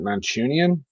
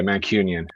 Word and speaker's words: Mancunian: to pronounce pronounce it is it manchunian is that what you say union okay mancunian uh born and bred in